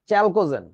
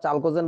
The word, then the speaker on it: চালকোজেন: বামে এই যে আপুরা ইনাদের নাম হইতেছে চ্যালকোজেন বা চালকোজেন আমি বইটাই লিখতেছি বাট একচুয়ালি উচ্চারণটা চালকোজেন বললেই ভালো শোনা যায় চ্যালকোজেন চ্যালকোজেন শব্দের অর্থ